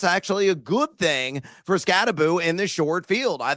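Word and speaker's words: Skattebo: Scataboo. And it's not Scatabo, folks. Make sure you pronounce it correctly. It's Boo, as in think of a ghost.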